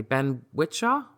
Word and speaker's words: Ben Whishaw: I'm trying to say his name correctly. Ben Whishaw? Is that? Yep.